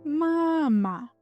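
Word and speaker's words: мама: Here the stress is on the first syllable. Mama.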